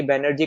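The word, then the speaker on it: Banerjee: इसको हम लोग बेसिकली बैनर्जी करके पढ़ते हैं, तो बैनर्जी आपको किसी भी तरीके से दे, अब आप यहाँ पे पहचान सकते हो।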